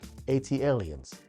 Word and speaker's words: ATLiens: Now OutKast, ATLiens, that's how I pronounce it, redefined the South, showcasing a futuristic soundscape that was as experimental as it was groundbreaking.